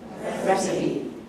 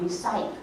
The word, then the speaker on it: recipe: Recipe. Recipe's whole problem is the pronunciation. It is not recite, which if you used your decoding skills, you think it's recite.